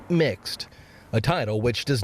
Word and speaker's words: Mx: the pronoun Mr., instead using MX, pronounced mixed, a title which does not imply a gender.